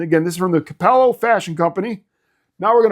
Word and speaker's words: Cappello: I'm English, but I did I did do a little research and realize it's called Capello and Luca. You got to pronounce because there's two C's.